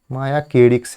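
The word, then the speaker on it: Mosquirix: मायाकेडिक्स है इसका सही नाम, प्रोनाउंसिएशन सही किया जाए तो मायाकेडिक्स दवा की मंजूरी प्रदान किया गया है।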